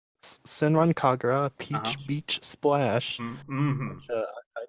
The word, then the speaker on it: Senran Kagura: Battle, Metroid Samus Returns, It's Zen- it's pronounced Sinran Kagura. Senran Kagura, Peach Uh-huh.